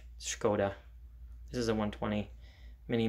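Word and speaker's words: Škoda: from czechoslovakia so skoda s with the carrot is pronounced like sh skoda this is a 120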